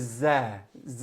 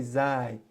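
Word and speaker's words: زاي: The next letter is za. You can say za, you can also say zai.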